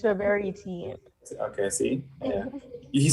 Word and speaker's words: Roberitine: I don't do well with pronouncing things You sometimes. didn't do too bad. It's Roberitine.